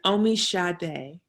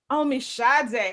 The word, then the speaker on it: Omisade: It's Omisade. Omisade. Oh, like the singer.